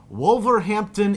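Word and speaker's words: Wolverhampton: Alex and Daniel from let me hope I'm pronouncing this right wolver Hampton England got it yes all right they are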